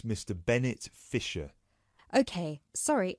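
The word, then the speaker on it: Fischer: me your full name sure it's Mr Bennett Fisher okay sorry how do you spell your surname it's spelled f-i-s-c-h-e-r great thank you I see that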